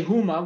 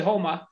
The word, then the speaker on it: Houma: You can't say Houma, which is how it's spelled. You got to say Houma.